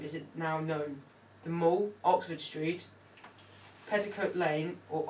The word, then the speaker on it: the Mall: I think it was the Mall. That's how you pronounce it. Not Mall, Mal.